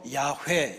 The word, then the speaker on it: 야훼: 나는 스 살아있는 자다 이거를 히브리어 발음으로 야훼 이렇게 불렀습니다 그리고 우리 성경에 여호와라고 하는